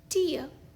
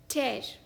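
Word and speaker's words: tear: या शायद खुश भी इस शब्द का दूसरा उच्चारण है ये टेर यानी कि फाड़ना for example if यू टेयर her favourite dress she might shade the टियर देखा शब्दों का खेल टेर फाड़ना टियर आंसू चौथा शब्द है ये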